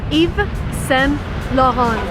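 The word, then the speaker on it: Yves Saint Laurent: United States and again if you want to be correct you want to read it in a French manner so it's Eva Sam Rohan Sallah Rock one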